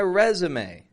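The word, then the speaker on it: résumé: continue with something resume but we're saying resum we're giving it a strong re and then Z and then may resume and again check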